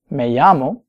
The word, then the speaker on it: me llamo: And they might answer, me llamo, plus their name. Me llamo. Notice the double L here is kind of like a Y, and some places might differ in that pronunciation a little bit.